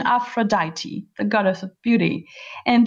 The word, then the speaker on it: Aphrodite: Pronunciation Aphrodite, the goddess of beauty, and during the celebration held by the gods to celebrate her birth.